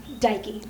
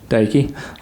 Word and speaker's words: Deike: um how do you say your last name daiki daiki okay miss daiki could you uh start with